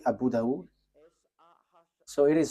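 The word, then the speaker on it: Dawud: So in that hadith there are um few books and in these books there is a writer uh Sah Abu Dau. So it is spelled s a h i h s a h i h.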